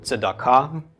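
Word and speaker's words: צדקה: So tzadi. So tzd. Then we have the a, the a of the komets, the k of the kuf, the a of the komets, and the hey at the end is silent. So tzedakah. Tzedakah is how this would be pronounced.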